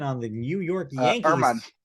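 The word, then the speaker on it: Germán: Domingo German on the New York Yankees. Herman. Sorry. That's silent H or silent G.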